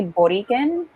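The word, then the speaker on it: Borikén: the taino language but it's actually boriken with like the accent on the e and later on like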